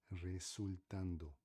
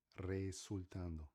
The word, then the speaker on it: resultando: Resultando, resultando. Português, resultando, resultando. Mais uma vez, palavras com R. No começo em espanhol sempre forte, vibrante.